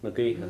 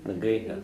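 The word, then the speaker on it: na gaoithe: We pronounce that like Nagi or what? Nagiha, yeah. Nagiha, yeah. Do it again? Nagiha.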